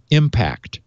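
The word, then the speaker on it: IMP4GT: user thanks to decryption we call this concept I mp4 GT which is impersonation in 4G networks pronounced impact impact completely breaks the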